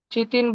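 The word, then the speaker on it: chitin: Complex sugar जिसका नाम काइटिन होता है, काइटिन, उससे बनी रहती है। चितिन बोलो, काइटिन बोलो, बस स्पेलिंग बरोबर लिखो।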